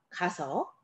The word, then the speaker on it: 가서: 가, 아서가 아니라 가서. 서, 어서가 아니라 서서. 이렇게 선택하게 됩니다.